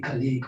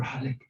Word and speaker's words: Khaliq: But anyway, my name is Halik and it's spelled Khaliq. It's a little bit hard to pronounce. Most of the people, they call me Khaliq or Halik, but Halik.